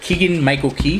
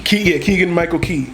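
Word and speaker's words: Keegan-Michael Key: But Keegan Michael Key. Keegan Michael Key.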